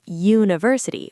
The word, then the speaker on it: university: Right, and a university uses a because even though university starts with U, it sounds like university, which is a consonant sound.